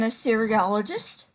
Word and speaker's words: Assyriologist: And he is an Assyriologist. Is that how you pronounce it?